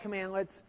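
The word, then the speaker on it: cmdlet: a commandlet right so CMD let we pronounce that commandlets and that's going to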